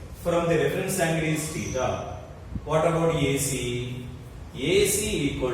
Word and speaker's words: theta: Pronounced as theta, Theta, theta or theta.